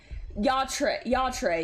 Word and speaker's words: Yatre: No, it's now I'm saying Yater. Oh. It's Yatre, yeah.